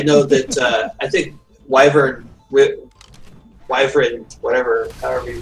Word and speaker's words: wyvern: and that's why it's you call it wyvern because in Latin the Y is an i sound long I okay it's a consonant then long or than a y it's a long I but I'm not a